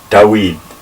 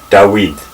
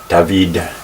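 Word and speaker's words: דוד: name David in Hebrew da weed in ancient Hebrew is pronounced da weed the emphasis goes on the last syllable Joey and this letter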